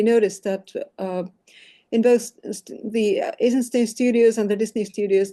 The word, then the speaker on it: Eisenstein: So, okay, let's see, Wikipedia and Sergei Eisenstein. And no, it's not pronounced Eisenstein. I've been told that it should be pronounced Eisenstein because it's a Russian name.